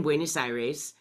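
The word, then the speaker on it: Buenos Aires: the first time and we landed in buenus Ires which is the correct way to say it I always said it the other way and so we learned from Saul exactly how to say it properly so we land in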